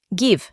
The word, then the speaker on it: give: El verbo dar en inglés es to give y en tiempo presente es give, sin pronunciar la e del final.